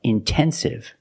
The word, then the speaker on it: intensive: Or words like intensive, intoxicated. We have the stress after the NT. We pronounce the T like a pure T.